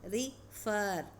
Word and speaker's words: refer: But here the stress is on second syllable. Refer, refer.